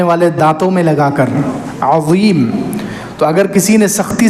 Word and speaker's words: عظیم: اللہ تعالیٰ کا انعام عظیم، اس کو زبان صحیح تلفظ سے ادا کرنا ہے. وا زبان کو سامنے والے دانتوں میں لگائیں گے تو وا ادا ہوگا، سبحان ربی العظیم.